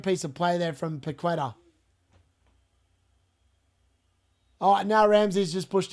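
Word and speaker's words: Paquetá: Paqueta's just been carded as well. That is Paqueta, sorry. That's how you say his name, Paqueta. I call him Paqueta all the time.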